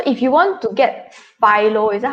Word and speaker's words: FILO: So if you want to get FILO, is that how you pronounce it, Douglas?